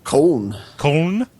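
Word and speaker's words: Köln: in Germany uh the is it cologne do they pronounce it cologne or is it something weird con conna yes it's spelled k Ln in if you're German it has o too so over in col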